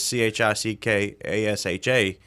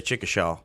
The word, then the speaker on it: Chickasha: So Chickasha is Chickasha, and a lot of people say Chickasha.